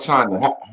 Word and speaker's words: Chyna: China is how you say my name.